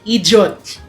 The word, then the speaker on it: idiot: idiot it's not idiot it's not idiot It's idiot gets Ay hindi pala siya idiot two iung pag tiningnan mo sa word sa dictionary parang two syllables ' ba pero it's actually three It's idiot idiot tapos